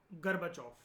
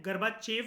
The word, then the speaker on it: Gorbachev: Michelle गर्बाचोफ। हम लोग लिखते GORBACHEV है, गर्बाचेव लिखते हैं, लेकिन इसकी प्रोनाउंसिएशन होती है मिखेल गर्बाचोफ।